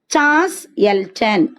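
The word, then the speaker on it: Charles Elton: The concept of ecological pyramid was developed by, இந்த ecological pyramid concept first introduce பண்ணது சார்ல்ஸ் எல்டன், whom it was developed by சார்ல்ஸ் எல்டன். இவர் தான் அந்த சார்லஸ், or you can pronounce it as சார்ல்ஸ் or சார்லஸ்.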